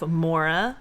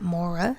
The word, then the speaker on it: Maura: Okay, so Raina suggested that we cover the case of Mora Murray. Oh, I've never heard of this. Me neither. Mora? Yes. So Mora like my but Mora?